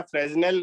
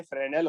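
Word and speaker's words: Fresnel: लिखो फ्रेनेल, बेटा फ्रेजनेल नहीं होता, ये फ्रेनेल होता है, साइलेंट है।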